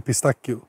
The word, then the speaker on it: pistacchio: Och den heter faktiskt crema di pistacchio. Stacchio. Det blir dubbel CH för mjuk och kal. Det blir K.